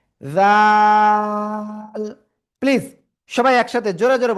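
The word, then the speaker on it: ذال: ওকে, এরপরে আমরা যে অক্ষরটা শিখেছি এই অক্ষরটা, জিহ্বার আগা সামনের উপরে দুই দাঁতের আগায় লাগিয়ে তিন আলিফটা নিয়ে উচ্চারণ করব, জাল। প্লিজ সবাই একসাথে জোরে জোরে বলেন, সবাই জোরে জোরে বলেন। জাল।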